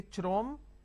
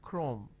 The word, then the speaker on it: Chrome: Can I say Chrome, like Google Chrome? No. The pronunciation is Google Chrome.